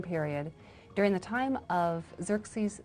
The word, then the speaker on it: Xerxes: Well, that was hard for the Jews to pronounce, so they said Ahashverosh. We know him as Ahasuerus. And the Greeks said Xerxes, which is Xerxes.